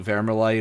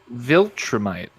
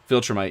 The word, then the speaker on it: Viltrumite: It's like vermilite or vermerite or some shit like that. But there. You remember the memes going around where like Viltrumite. Viltrumite, yeah. Remember the memes going around